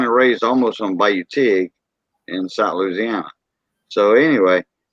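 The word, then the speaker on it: Tigré: I renamed it Bayou Tig Radio Shop, which Tig is spelled Tigre with an accent mark on top of the E, and Tig is for tiger.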